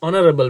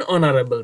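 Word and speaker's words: honorable: mister Rahman is dash অনারেবল ম্যান, ইজ অ্যান অনারেবল ম্যান, অনারেবলের প্রথমে এইচ থাকুক কিন্তু উচ্চারণ তো অয়ের মতো হচ্ছে, এই জন্য আমরা আর্টিকেল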